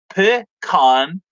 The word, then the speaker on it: pecan: in pronouncing the word pecan it is properly said uh said pi khan with a short a not long a um pecan okay pecan